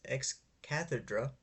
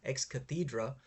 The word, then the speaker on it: ex cathedra: Lan just States this ex cathedra or rather sorry I should pronounce this correctly ex cathedra without reasons for believing